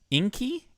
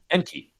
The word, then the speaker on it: Enki: Uh, you're gonna have to You're gonna have to correct me on the name. Inky. Inky. Enki. Enki.